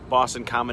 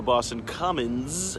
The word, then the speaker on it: Boston Common: end to Boston Common it's just pronounced Boston Common not the Boston Common or Boston cummins it is just pronounced